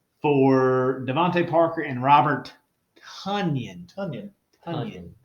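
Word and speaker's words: Tonyan: Devontae Parker and Robert Tunyon. We were saying it wrong this whole time. Like bunions and funyuns.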